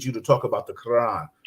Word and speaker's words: Quran: because I need you to talk about the Quran. Correct? Did I say it right? Quran, yes.